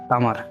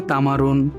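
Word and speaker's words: تمر: এটা কিন্তু বই ভাষাতে তামারুন এই শব্দটা উচ্চারণ হয়। বাট আঞ্চলিক ভাষাতে আমি কিন্তু আঞ্চলিক ভাষা শিখাচ্ছি। তো আঞ্চলিক ভাষাতে খেজুরকে কি বলে? তামার বলে। বিসমিল্লাহ।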